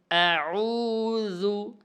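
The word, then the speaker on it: أعوذ: দিতে হবে আইন ওয়াও পেশ জাল পেশ যু আউজু জালের উচ্চারণ নরম হবে।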